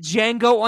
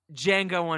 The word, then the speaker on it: Django: time everybody is it django unchained fit d is silent all right rob we're